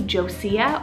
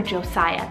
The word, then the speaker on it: Josia: So Josa could be pronounced a couple different ways. She actually goes by Josie. So it could be Josiah or Josiah, because it is a diminutive of Josiah.